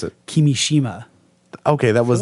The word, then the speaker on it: Kimishima: Pronounce it. Kimishima.